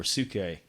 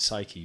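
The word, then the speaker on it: ψυχή: were in the the Greek for sookay or I guess in modern times we pronounce it psyche but for the mind but it be sookay and it's in the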